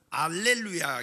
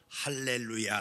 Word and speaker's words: 할렐루야: 할렐루야 라고 하고 있습니다 그런데 그리스어로 는 알렐루야 이고 우리는 그리스도 의 발음이 아니 히브리어 성경의 발음대로 할렐루야 라고 하고 있습니다 한번에 볼까요 할렐루야 근데